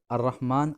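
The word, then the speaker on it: الرحمن: पढ़ रहे हैं है लेकिन आर रहमान और रहीम में हम अलार्म को नहीं पड़ रहे हैं यहां पर हम अलार्म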